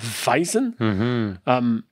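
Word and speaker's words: Weizen: les Allemands la five c'est W mais la langage allemand je pense qu'on prononce comme un V donc weisen donc la weisen veut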